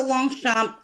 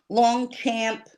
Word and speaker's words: Longchamp: And thank you so much Roxy for saying Longchamp and knowing how to pronounce the name of the bag correctly. What did I say? Long Blanchet, what's the other one? Long champ, long camp.